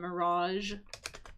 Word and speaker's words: mirage: That is a mirage. And note the pronunciation on that. That's got like that soft G sound. Mirage.